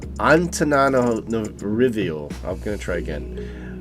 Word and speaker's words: Antananarivo: But sorry, so if you can pronounce it, it is Antananarivo. I'm going to try again. Antananarivo.